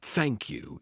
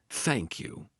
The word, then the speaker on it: thank you: Then we have the unvoiced. A lot of times, they will say it like a T, the true T sound. So they'll say something like thank you instead of thank you.